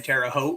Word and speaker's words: Terre Haute: Got part of the storm down in Terre Haute. Rhymes with boat.